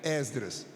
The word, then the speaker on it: Esdras: rápida no livro de Esdras Capítulo 7 são passagens conhecidas Esdras muita gente PR Já que é reunião de obreiros muita gente pronuncia exas você puder pronuncie com o e aberto Esdras mas se disser ESD